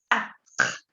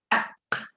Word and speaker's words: quatre: Cuatro, vous dites quatre. Quatre. La QU se pronuncia como una K.